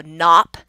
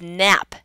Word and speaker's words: nap: I've seen a lot of people choose the aw as in father, so nop, but it's nap, the same sound as in cat.